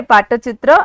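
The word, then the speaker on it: Pattachitra: it's like p-a-t-t-a but then it's how it's pronounced okay Pata chitra and this is a type of painting which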